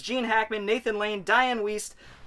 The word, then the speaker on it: Wiest: hackman nathan lane diane wiest west west i always not sure how to pronounce that it's w-i-e-s-t whist either way it's the